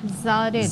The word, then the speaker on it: Zeewarad: I hope I am pronouncing your name right. Got it. It's Zarid.